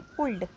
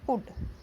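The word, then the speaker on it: could: वो क्या करते हैं, उनको ये नहीं पता होता इसमें एल साइलेंट है, तो उसको ये क्या पढ़ेंगे, कुल्ड। मैंने ऐसा खुद देखा है, मतलब ये कि मतलब कोई ऐसी बात नहीं है कि उसमें आपके सामने कोई ऐसा पढ़ रहा था आप मजाक, आपको ये बताना चाहिए कि ये एल साइलेंट है, इसे पढ़ते हैं कुड।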